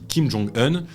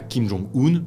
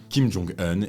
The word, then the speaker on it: Kim Jong-un: début de la vidéo je dis Kim Jong hun et pas Kim Jong hun comme on entend parfois dans les médias et c'est pas une erreur c'est la vraie prononciation Kim Jong hun et pas Kim Jong